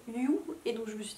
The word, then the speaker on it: Hugh: Ils prononcent Hugh à l'anglaise, mais à une anglaise bizarre, et j'entendais ça en mode you, et donc je me